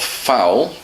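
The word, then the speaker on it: fowl: course the pronunciation of foul the chicken and foul when you hit somebody in in the football match f-o-u-l it's the same pronunciation um so it's using the same sound to make it seem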